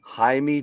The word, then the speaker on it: Jaime: Jaime Jacquez. Jaime is right, so I got it. Is right? Isn't just another form of James? Jaime? Yeah, it's Jimmy. Jaime. He's basically Jimmy. He's Jimmy.